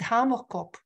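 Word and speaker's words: hamerkop: again one second please in South Africa they pronounce it homocope and it's uh Afrikaans and if you look at the bird right now the previous picture was actually better to see it but cop means head in Afrikaans previous previous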